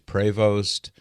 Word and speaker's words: Prevost: Francis Prevost, and yes, you'll hear people pronounce that last name differently. You'll hear Prevost, Prevost, Prevost. So take your pick, but what seems to be the most consistent pronunciation of his last name is Prevost.